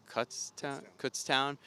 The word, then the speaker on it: Kutztown: It's Kutztown.